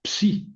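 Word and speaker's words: ψ: Entonces, hay que hay que pronunciarla como CS, la XI. y la psi, que la conocemos mucho por porque por la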